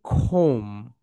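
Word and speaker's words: comb: এই তো বি যেটা দেখতে পাচ্ছ, এটার উচ্চারণ হয় না। ওকে, এখানে হয় খোম, খোম।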